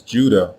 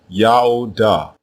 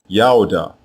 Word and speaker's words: Judah: Both of these versions are pronounced the same way, Yaoda, Yaoda, and it means Yao is praised.